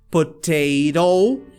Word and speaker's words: potato: aqui é o seguinte, geralmente palavras que tem dois T's igual esse, geralmente o primeiro T, ele sai com o som do próprio T, normalmente, tá? Eu vou até colocar mais uma palavra aqui, ó. Por exemplo, ó, potato. E o segundo, ele faz o flap.